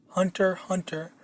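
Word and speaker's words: Hunter × Hunter: Okay, so I don't know if you've heard of this, but there's this anime called Hunter Hunter, but it's spelled out Hunter X Hunter.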